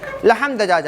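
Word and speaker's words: لحم دجاجة: اچھا وہ اب ہم تو عربی میں تلفظ کا اعراب کا خیال کرتے ہیں نا، وہ لحمن نہیں کہیں گے یا لحمہ نہیں کہیں گے، لحم دجاجہ.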